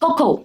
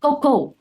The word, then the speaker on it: cocoa: Cocoa, very commonly mispronounced, cocoa, not cocoa, no, it's not cocoa, it's cocoa. Cough, not cough, cough.